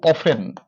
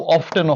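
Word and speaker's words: often: তাহলে দেখো প্রতি সপ্তাহ, তো হচ্ছে দুইবার তিনবার, এই যে এটার অর্থ হচ্ছে কতবার, কতবার ইংরেজি হচ্ছে হাউ অফেন, উচ্চারণটা হাউ অফটেনও হবে, দুটোই কারেক্ট অবশ্য।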